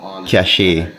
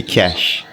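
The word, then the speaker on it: cache: I realized I was saying the word cach wrong it's supposed to be cash um I looked it up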